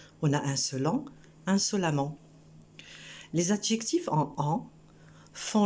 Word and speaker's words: insolemment: Seulement, il faut se rendre compte de la prononciation. Là, au lieu de prononcer E, on prononce A. On a insolent, insolemment.